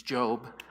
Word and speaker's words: Job: It's Job. Job was a guy, and Job was the most righteous, according to the Bible, the story.